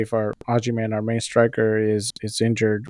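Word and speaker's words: Agyemang: It's Patrick Ajiman.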